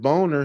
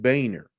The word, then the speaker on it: Boehner: It was had a weird, like a little twist of a spelling, but he didn't pronounce it boner, he pronounced it Boehner, although it looked like boner.